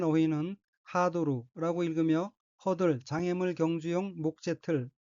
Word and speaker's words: ハードル: 우선 빨간색 줄친 부분을 보면 첫째 줄에 카타카나로 된 어휘는 하도루라고 읽으며 허들, 장애물 경주용 목재틀 이란 뜻입니다.